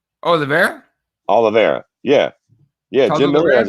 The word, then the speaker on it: Oliveira: over charles uh i i pronounced his pricks last night olivieri oh the bear oliveira yeah yeah jim miller has a [ __